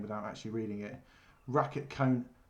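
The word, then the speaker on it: Raketkanon: without actually reading it racket cone racket racket cannon racket coming that's how you say I've never known do that this is number two rocket cannon number two I've never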